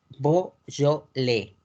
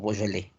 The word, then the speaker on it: Beaujolais: La región de Beaujolais. Beaujolais. En español y en francés. Ahí sí se conoce como Beaujolais. Beaujolais.